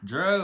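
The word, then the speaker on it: drow: Dro is spelled D-R-O-W.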